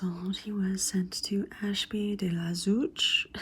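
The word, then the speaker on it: Ashby-de-la-Zouch: he was sent to Ashby deuch is how you say it to be instructed by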